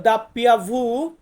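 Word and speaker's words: doppia vu: মানে হচ্ছে ভি ডাব্লিউ ডাব্লিউ এটাকে আমরা বলবো দাপ্পিয়া ভু বা দাপ্পিয়া ভি দাপ্পিয়া ভু বা দাপিয়া ভি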